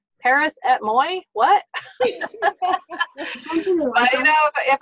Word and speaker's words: Paris et moi: Pronounce this. Paris et moi. Paris et moi.